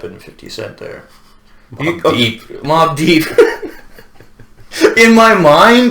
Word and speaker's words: Mobb Deep: Well, I mean, you mentioned Mobb Depp and 50 Cent there. Mobb Deep. Mobb Deep. In my mind, it's spelled D-E-P-P.